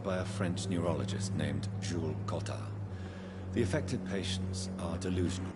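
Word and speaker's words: Jules Cotard: affected patients are delusion I very much appreciate that pronunciation my friend a lot of voice actors would have said Jules Cod I appreciate the je cotar perfect punctu pronunciation they believe that they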